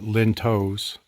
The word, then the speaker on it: lintels: I was asked in an email, and the question was, can you use lintels, or the locals call it lintos, but it looks like it's spelled lintels.